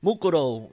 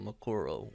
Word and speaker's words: Mukuro: yomi and makuro right mukuro yeah i think i think it would be probably pronounced mukuro instead of makuro which dubs back in